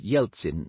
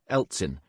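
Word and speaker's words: Yeltsin: like G in Rouge an e at the beginning of a Russian word is usually pronounced ye thus yelin not Elin but Mount El Bru not Mount yel Bru because in Russian the e in this case is a different letter I have used the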